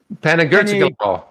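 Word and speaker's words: Panigirtzoglou: Panagirtzoglu.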